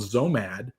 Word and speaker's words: Xomad: I mean, everybody, I'm not saying anything nobody knows, but there was a company called Zomad. It was spelled with an X, XOMAD, I think, is like nomad, but with an X.